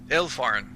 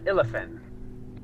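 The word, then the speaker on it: Illefarn: Did I say it wrong? I look at the elf. Am I saying it wrong? What's up? Nothing. I think I'm not really good with these elven words. Oh, it's Illafin.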